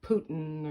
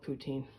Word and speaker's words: poutine: Well, today I'm going to make myself poutine, or Putin, or however you want to pronounce it. I call it poutine.